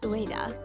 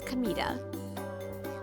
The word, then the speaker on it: Kamita: My name isn't Ua, it's Kamita. Same kanji, but read differently.